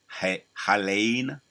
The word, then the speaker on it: Helene: They got the Hurricane Helene. That's how you pronounce it.